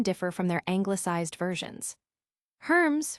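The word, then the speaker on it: Hermès: Herms, for example, retains its French pronunciation with a silence and a nasalized vowel, a far cry from how it might be casually read.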